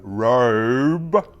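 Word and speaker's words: RØDE: I've bought things before, which you would have seen, especially like Robe, that's how you pronounce the microphone company, where you couldn't reseal the box.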